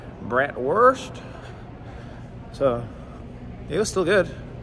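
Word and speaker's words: Bratwurst: lunch before starting the tour had a a brat verse sausage cuz I thought well when in Rome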